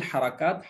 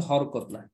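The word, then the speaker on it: حركة: হারাকাত দিয়ে এরাব হয়, আমরা অনেক সময় হরকত বলি, শব্দটা কিন্তু হরকত না। আরবিতে, বাংলায় হরকত হয়, আরবিতে এটাকে বলে, যদি আমরা ওয়াহেদ উচ্চারণ করি, মুফরাদ উচ্চারণ করি, হারাকাতুন, হারাকাতুন, হারাকাতুন।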